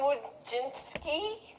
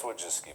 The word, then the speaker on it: Wojcicki: Yeah, Susan Wojcinski? close enough. Is that how you pronounce I it? think it's Wojcicki, but Wojcicki?